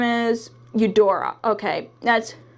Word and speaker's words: Eudora: I dropped the card and her name is Eudora okay that's how you pronounce her name I just didn't want to